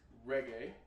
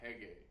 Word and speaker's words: reggae: the style of samba because they speak Portuguese in Brazil they pronounce the R with an h and the Styles actually known as Samba reggae now the reggae rhythm